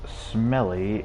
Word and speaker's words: SMLE: Sometimes pronounced smelly, it was a smooth and quick bolt action.